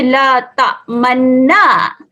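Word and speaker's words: لا تأمنا: Kita perlu memuncungkan bibir pada kalimah ini. Muncung waktu nak sebut man. Okay, jadi kalau awal kita kata bunyi man, tapi cara bacaan ishmam dia jadi man. Man. Okay, dia masih bunyi man tapi kena muncungkan bibir. La ta'manna. La ta'manna. Muncungkan bibir. Jangan bunyi tak maun. Maun salah.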